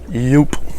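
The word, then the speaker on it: Joop!: it's still a powerhouse jupe or i guess technically yup yup it's jupiter that's what i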